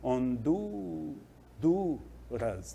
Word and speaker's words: Honduras: mais tempo no B Honduras da mesma forma que o abeto na penúltima sílaba assim também hond duras no Du né Despois aí tem acento